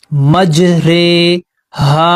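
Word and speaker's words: مجريها: रॉ खड़ी जेर री, लेकिन इसकी जो दरमियानी आवाज है वो होगा रे, तो हम इसको यहाँ पर रे पढ़ेंगे।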